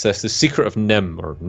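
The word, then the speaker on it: NIMH: god, I always mispronounce this, The Secret of Nim, or Yeah, Nymph, or whatever it is. pronounced Secret That of one. Nim.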